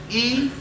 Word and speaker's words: eponymy: An eponymy, and write it down, E-P-O-N-Y-M-Y, eponymy, that's how it's pronounced.